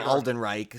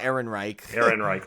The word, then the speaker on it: Ehrenreich: I called him Alden Reich, so I always butchered it. Yeah. But it's Ehrenreich.